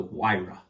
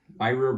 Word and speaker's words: Huayra: The Huayra. Huayra? Huayra Roadster It's BC. H-U-A-R-Y. Mm-hmm. Hey, that's Huayra. I was going to say Hawaiian. It's Italian.